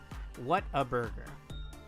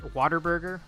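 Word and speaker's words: Whataburger: What a burger. What? hyphen a hyphen burger. If you're uh southern or ghetto enough, you might pronounce it waterburger, but we don't we don't talk to those people here.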